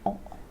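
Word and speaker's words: を: Kalau he ini dibacanya kalau partikel, dan ini wo ya, wo ini dibacanya dengan o ya.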